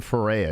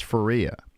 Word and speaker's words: Ferreira: I keep on calling Ferreira. It's Ferreira. That's how she pronounces it.